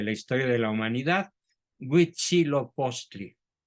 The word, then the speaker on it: Huitzilopochtli: historia de la humanidad, Huitzilopochtli, a quien los españoles denominaron con el nombre de Huichilobos, por no pronunciar bien la palabra Huitzilopochtli.